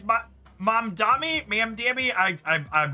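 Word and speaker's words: Mamdani: I'll I'll I need to spend a little bit effort to make sure I understand how to pronounce I think it's ma mam dami.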